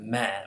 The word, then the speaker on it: meh: A very interesting innovation in English language is we have this word meh, which is spelled M-E-H, kind of like, how do you feel?